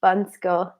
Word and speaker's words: Bansko: guys Oh Al says Bansko is pronounced "bun sko." It's more the way that I hear people saying it it's like "Bahnsko; Boggsko" or something.